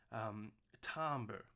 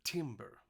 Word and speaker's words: timbre: a French word tombola that's why we actually say Tambor instead of timbre like it's phonetically spelled so we say it in the French way of Tom okay and now Tambor